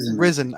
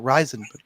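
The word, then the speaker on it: Rizin: He was in Ryzen or Risen. I never know how to say it. And I watch it. Risen. I always want to call it Ryzen.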